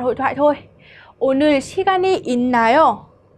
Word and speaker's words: 있나요: Chỗ này chúng ta sẽ không đọc là it đúng không ạ? Bởi vì phụ âm 받침 là 시옷 này. Khi mà cộng với cả 니엔 phía sau thì 시옷 sẽ được biến đổi thành 니엔. Mình sẽ đọc là in, được chưa?